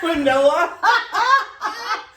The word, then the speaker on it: quinoa: And I said, how'd you pronounce quinoa. it? Quinoa.